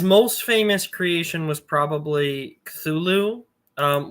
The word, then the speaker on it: Cthulhu: was probably culu um which by the way uh some people I already know are going to be in your comment section like no it's pronounced this other way uh Lovecraft himself definitively said that it doesn't matter how you pronounce the name cthulu because it was never intended to be pronounced by the human tongue so uh Checkmate purists